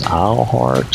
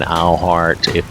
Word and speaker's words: Eilhart: The spelling of it is E-I-L, and that's why I'm saying Eilhart. If that's supposed to have some other pronunciation for all you fans of this, then you'll just have to let me know.